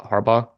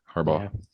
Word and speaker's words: Harbaugh: real quick you know the g is silent right in what Harbaugh yeah Harbaugh I say harb but